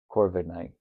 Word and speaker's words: Corviknight: Corviknight. Corviknight. Yeah, Corviknight. The K is silent.